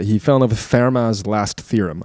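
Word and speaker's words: Fermat: um and and the he fell in love with Farah's last theorem. I think I'm pronouncing that correctly. F E R M A- A- T, but I think he's French. Um Farma's last theorem.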